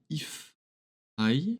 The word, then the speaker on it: ifeye: Un groupe qui s'appelle If I, parce que c'est comme ça que ça se prononce.